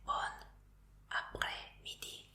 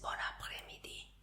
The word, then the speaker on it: bon après-midi: Entonces no se dice bon après-midi, sino que el bon y el après se juntan como uno. Entonces es bon après-midi.